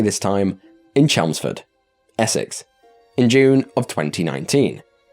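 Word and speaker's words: Chelmsford: include it this horrifying entry begins and I'll pronounce it correctly this time in chelsford Essex in June of 2019 in chelsford specifically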